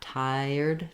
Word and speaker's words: tired: y in but again knowing that that's there that you should be hearing that and feeling that tired tired may help you pronounce that word more easily once you can say